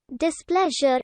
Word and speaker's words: displeasure: it suited the line displeasure is accented on the second syllable one assumes rhyming if